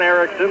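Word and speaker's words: Erixon: by John Anderson one Erickson is fouled with an X e-r-i-x-o-n and the other John Erickson is e-r-i-x e-i-r-k-s-s-o-n to pronounced exactly the same two John Ericksons of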